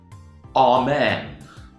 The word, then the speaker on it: amen: Okay, we'll say Amen, Amen, Amen, Amen. Think about the stress pattern.